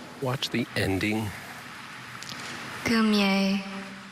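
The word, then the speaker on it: goumier: Gumier.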